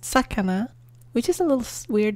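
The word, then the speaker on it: 魚: Following that, we have fish, pronounced sakana, which is a little weird squiggly line with the rice field and then four little things below.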